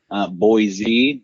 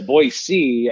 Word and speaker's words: Boise: But if you say a Boise, I think you're saying it right, I think.